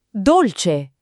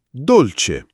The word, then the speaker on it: dolce: Dolce. Dolce. Dolce. Non dolce i come in inglese, ma con la c chiara. Dolce.